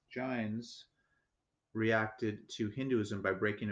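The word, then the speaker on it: Jains: four the the giants i believe that's pronounced giants reacted to hinduism by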